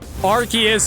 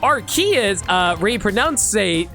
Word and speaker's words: Arceus: What are Pokemon names that were really annoying to pronounce? Well, Arceus and Arceus is a big one because for the longest...